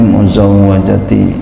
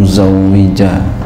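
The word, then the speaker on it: مُزَوَّجَةِ: Ini bacanya muzawwajati ya. Ini bukan muzawwija ya.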